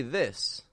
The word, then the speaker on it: this: teeth e these however when we say this this we are relieving that pressure we're making the vowel kind of short and quick I this these this